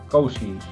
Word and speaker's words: cousins: I have 5 cousins. Cousins. Sí, recuerda que la IS es muda. Entonces hay que pronunciar como una A.